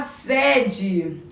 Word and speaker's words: sede: A mesma grafia e pronúncia diferente. Exemplo: o menino foi até a sede e sentiu sede.